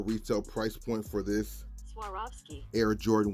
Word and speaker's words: Swarovski: Next up, we got a collab on the Air Jordan 1 Retro that I'm gonna butcher the name, so this is how you say it actually. Swarovski.